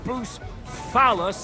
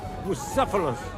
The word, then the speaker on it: Bucephalus: What kind of name is Bruce Phallus, anyway? It's pronounced Bucephalus, which kind of...